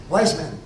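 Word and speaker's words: Weizmann: après-midi de ouaismanman bman wisem si vouspensez si vous parlez du W mais souvent on le prononce avec le V alors wisem c'est un juif simplement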